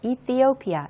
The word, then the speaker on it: Ethiopia: development 이렇게 소개되어 있습니다이 에티오피아는 영어로는 보시는 스펠링 그대로입니다 이티오피아 이렇게 읽게 되고요 th 발음이 들어 있어서 좀 발음이 쉽지만은 않은 국가 명인데요 이티오피아라고도 옛날에는 불렀었죠